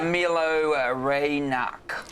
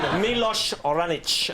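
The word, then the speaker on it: Miloš Raonić: who beat him Dave I love sport uh Milo reynak let's see the pronunciation no we're not we're dead milosh oranich but I will pay for that the Nadal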